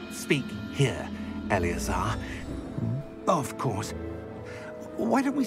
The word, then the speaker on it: Eleazar: That's how you pronounce it, Eleazar.